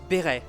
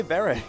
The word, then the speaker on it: beret: So, it's a French word. I should have said it in French, béret. But I don't say beret. English speakers, so We don't say it like that. We say beret.